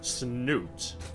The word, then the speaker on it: Snute: Liquid net it is the reto Zerg player snoot what's new ting if you prefer the official pronunciation his opponent representing 80 gaming and just